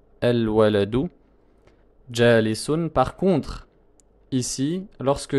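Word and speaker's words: الولد: Je vais dire el-waladu. El-waladu. Je ne peux pas commencer ma phrase en disant le-waladu. Le-waladu. Je ne peux pas commencer par le soukoun, c'est impossible.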